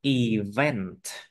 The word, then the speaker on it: event: Describe an important event. Event. Cái này là event, còn cái chữ event là không có chữ T ở cuối.